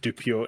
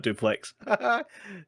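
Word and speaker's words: Dupieux: That's a Dupio, not Duplex.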